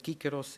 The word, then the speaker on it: Cícero: grande orador romano Cícero se pronunciava Cícero ou Cícero. A famosa disputa entre Kícaros e Cíceros. Eu vou ler pelo que eu sei ter sido o seu gosto em ser chamado Kícaro.